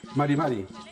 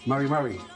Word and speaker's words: mari mari: Sí, porque por ejemplo no es Mari Mari, es Mari Mari. Mari Mari. Sí, como si fuera como un extranjero hablando, digamos, español.